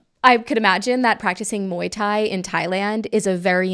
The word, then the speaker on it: Muay Thai: Muay Thai. Muay Thai. Guys, I can't. We talked about this. My Thai is a drink, Muay Thai is a sport. Hello. Okay. I could imagine that practicing Muay Thai in Thailand is a